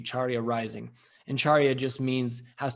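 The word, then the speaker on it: Carya Rising: website it's called uh charia rising and it's spelled a little bit differently it's um it comes from a sanskrit word and so it's actually c-a-r-y-a-r-i-s-i-n-g charia rising and charia just means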